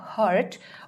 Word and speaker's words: heart: ये तो हो जाएगा आपका हर्ट और इसकी प्रोनाउंसिएशन होगी हार्ट. For example, she needs to स्टार्ट seeing a cardiologist because during हर illness she has developed blood clots.